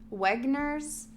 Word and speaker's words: Wenger: He had recently begun to consider Wenger's He had recently begun to consider, I can't decide how to pronounce the W. W-E-N-G-E-R, Wenger's index. Wenger's index, yeah. German W, Wenger.